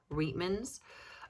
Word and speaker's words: Reitman's: Reitman's.